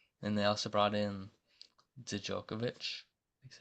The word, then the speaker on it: Djokovic: And they also brought in Djokovic, that's how you say it, Laser Djokovic from Charleston, who averaged 8 and 6.